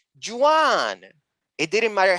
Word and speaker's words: Juan: on my own name she insisted that i was pronouncing my name wrong and that in english it was juwan i kept shedding parts